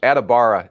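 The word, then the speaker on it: Adebawore: a bad thing I would imagine right no adibara is how you pronounce his last name okay thank you uh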